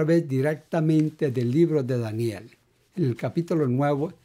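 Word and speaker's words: דניאל: es el Profeta Daniel en hebreo se pronuncia Daniel Daniel dice Igualmente que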